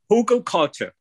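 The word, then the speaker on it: hugelkultur: say who uh culture how do you say that again hugo culture hugo culture yes there's actually logs in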